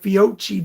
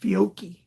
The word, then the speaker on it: Fiocchi: in a long time right it's felt like fiochi but it's pronounced fiocchi uh no uh richard this is not my